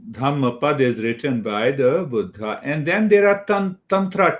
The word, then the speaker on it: Buddha: that buddha yeah buddha so when we stress on dha that is the real pronunciation but if you say buddha that is how many people here in our country speak buddha so that pronunciation means